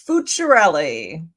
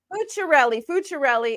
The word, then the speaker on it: Fuciarelli: It's Fuciarelli. Fuciarelli. Is it Italian? It is Italian.